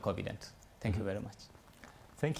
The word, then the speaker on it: Covident: Yes, Covident. I'm pronouncing it properly?